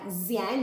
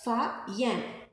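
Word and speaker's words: Faxian: उनमें एक आता है ये, इनका नाम आपको पढ़ने में ज़ियान जैसा लग रहा है बट एक्स is silent here, so we will pronounce it like फायान, who came to subcontinent around 1600 years ago.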